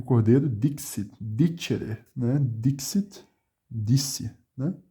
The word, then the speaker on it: dixit: O X tem um som de meio que um CS, né? X, Dixit.